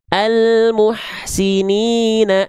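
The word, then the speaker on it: الْمُحْسِنِينَ: Tapi kalau kita gabung kalimat almuhsinina ini dengan kalimat sebelumnya, maka hamzah wasalnya enggak kita anggap, enggak kita baca. Walaupun tetap harus ditulis karena ada kaidah penulisan tuh begini dibacanya begini kan.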